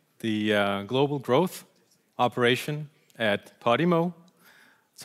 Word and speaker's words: Podimo: I am leading the global growth operation at Podimo. That's how you pronounce it.